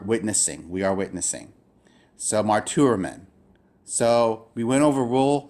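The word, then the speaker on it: μαρτυροῦμεν: I don't know any word in English that begins with an R sounding letter and T sounding letter, so they have to be pronounced separately. So I'm going to draw this as mar, tu, rumen. That's how you would break up this word.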